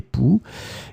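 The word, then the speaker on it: poux: So one more time, remember, a noun, masculine, un pouls, or it can be the plural form with the X in the end that you don't pronounce, des pouls.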